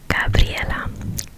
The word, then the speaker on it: Gabriela: And I also have another name, a second one which is Gabriela. Gabriela. Gabriella. And in my native language, this one is pronounced Gabriella.